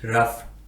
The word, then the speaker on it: rough: Silent नहीं होता और GH का उच्चारण फा के रूप में किया जाता है, यानी F के रूप में किया जाता है। जैसे कि आपने कुछ स्पेलिंग देखे होंगे, COUGH कफ, ROUGH रफ, TOUGH टफ, ENOUGH इनफ, LAUGH लाफ।